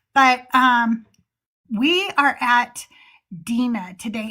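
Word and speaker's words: Dinah: But um we are at Dena today. And I say Dena because that is the actual uh pronunciation in Hebrew.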